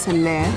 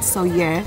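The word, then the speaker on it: Sóller: Nenny's at Port de Soyer. So I just got to know that it's not pronounced Soler, but Soyer.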